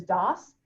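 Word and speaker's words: DAHS: services is d-a-h-s but everybody pronounces is dos and so i always get like when i hear dos i think d-o-s-s or something like that but it's d-a-h-s what is d-a-h-s are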